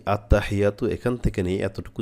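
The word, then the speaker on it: التحيات: আছি তাদেরকে বলতেছি যে বেশিরভাগ ক্ষেত্রে হাটা আমাদের উচ্চারণ হয় না আত্তাহিয়া হা এখানে হবে কি হা আত্তাহিয়াতু লিল্লাহি আত্তাহিয়াতু চেষ্টা করেন দেখেন পারেন কিনা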